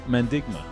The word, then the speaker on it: Mandigma: capital and who we're talking about is mendigma now did I say that properly yeah yeah